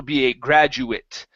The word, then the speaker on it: graduate: but I can also be a graduate and it's pronounced as an it sound same thing here climate